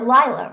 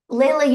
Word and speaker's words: Layla: All right, Layla, go ahead. Or Lila, right? Oh, uh, You were right the first time.